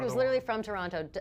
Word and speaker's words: Toronto: from Toronto. She does say Toronto. She emphasizes the second T.